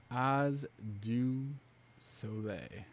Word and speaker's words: Oz du Soleil: It's spell it out for me phonetically, Uh Oz. like the wizard. Yep. Do, like DUE. Yep. Soleil. SO-LAY. Oz du Soleil.